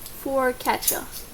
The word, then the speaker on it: focaccia: Hang on, how do you pronounce that? Focaccia? Focaccia.